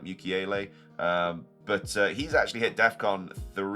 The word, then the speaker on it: Mukiele: And then I've gone for 2 4 mil defenders as well in Rodon, and I'm not sure how to pronounce his name. It's like Mukiele.